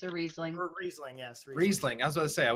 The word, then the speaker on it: Riesling: It's a Riesling.